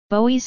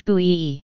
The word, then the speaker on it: Bowie: Bowie's surname was pronounced to rhyme with the French Louis, slash B slash Bowie. Although some works refer to the alternate pronunciation slash Bowie slash Bowie.